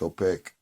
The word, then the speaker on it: opaque: I'm using words like opaque opaque rhymes with bake so I'm pretty sure